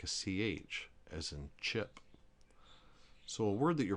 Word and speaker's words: chi: HE, in other words, if you insert an H in between the C and the I, or the C and the E, it's no longer a soft C as in chip, but it's more like the K as in key. So the word CHI is key.